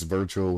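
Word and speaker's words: Wirtual: So it's Virtual spelled with a W, because W's are V's, you know what I'm saying?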